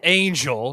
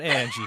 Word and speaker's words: Anjl: Uh uh Angel, not Angie, guys.